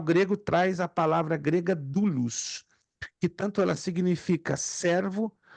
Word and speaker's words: doulos: A palavra servo, como está nos originais em grego koiné, é a mesma para escravo, mesma. Doulos, D-O-U-L-O-S, pelo menos se translitera assim. Se escrevem com as letras gregas, mas se translitera, ou seja, se escreve nas nossas letras latinas com D-O-U-L-O-S, doulos.